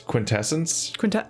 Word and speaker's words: quintessence: say that word keith that's quintessence it's a word that i see and i've never said out loud and so i don't know how to say it like quintessential yeah i can say